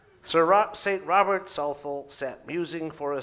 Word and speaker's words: Southwell: the category before Chesterton St Robert suul written southwell but pronounced suul sir St Robert suul sat musing for a